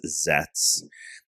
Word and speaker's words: Zeztz: Um, so let's get into talking about zets. Let's go over some some top level stuff here. So it's common rider zets. It's spelled ztz, but the middle z is silent. So it is zets.